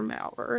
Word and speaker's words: Mauer: Mower, I think. Mauer. I think it's Dr. Mauer is how his name is pronounced.